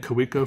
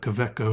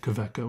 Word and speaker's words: Kaweco: gonna start saying Quebec oh I've been saying could we go for a long time but I feel like kvitko is a lot closer to the correct and intended pronunciation so will you support